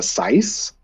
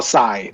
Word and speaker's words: sai: I think it's pronounced a sice. It's like. It's almost like a handheld trident. It's got the 3 Oh, a sai? pokey. Oh, sai.